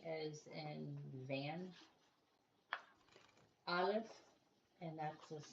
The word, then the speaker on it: Aleph: The next one is Aleph, which is silent, and that the next letter is Sheen, shine, Resh, raisin, and Yod, yellow.